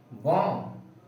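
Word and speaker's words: bomb: इसका सही प्रोनाउंसिएशन होगा क्लाइंब, डम, टोम, बॉम्ब, लिम।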